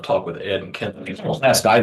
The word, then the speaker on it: Pulaski: Now I'm a Pulaski County resident, of course, so it's something I've talked with Ed and Kent. Pulaski, not Pulaski.